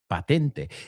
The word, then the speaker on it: patent: The British say patent. I remember the first time I heard it, I said, patent? What are you talking about? So they say patent. We say patent.